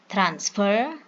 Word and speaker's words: transfer: Transfer, transferred. Transfer, transferred. Trans, first syllable. Ver, last syllable.